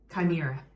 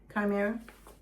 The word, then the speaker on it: Chimera: Chimera. Chimera. Chimera. I know that doesn't it's not how it would seem like it would be pronounced, but I already had that.